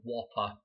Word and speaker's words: WOPR: I know it's spelled as WOPR for the Whopper computer.